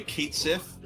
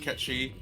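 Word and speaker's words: Cait Sith: Twitter had said that the pronunciation of the character's name in seven remake supposed to be Kate Sith uh and not uh Ki um but but then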